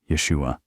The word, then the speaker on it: Yeshua: Jesus, the voices said, pronouncing it in the original Hebrew. Yeshua.